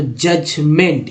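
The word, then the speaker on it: judgment: देखिए जजमेंट में यह डी जो है साइलेंट हो गया है, और मैंने साइलेंट वाले वर्ड्स बताया था डी तक, और ई तक बता दिया मैंने। तो जजमेंट, ENT को एंट बोलते हैं, हम लगा मेंट, जजमेंट, ई जो है साइलेंट है यहाँ पर।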